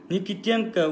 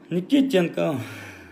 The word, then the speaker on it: Никитенко: Никитенко ударение экинчи тамгасында. Шил Никитенко, короче. Никитенко.